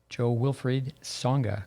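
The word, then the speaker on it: Jo-Wilfried Tsonga: wta players to name a few novak djokovic joe wilfried songa correct my uh pronunciation perfect perfect grigor dimitriov maria sharapova victoria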